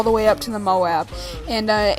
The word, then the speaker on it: MOAB: guys it's legit and I got some M Moab gameplay Moab mob whatever all these people call it I prefer